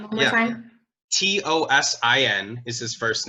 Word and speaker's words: Tosin Abasi: I really, if I were to pick one person, there's only one person that comes to mind, and that is the guitarist Tosin Abasi.